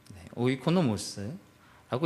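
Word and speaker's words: οἰκονόμος: 헬라어라 거기 그것을 저렇게 읽어요. 오이코노모스라고 읽고요. 저게 뭐냐면요, 청지기라는 뜻이고요.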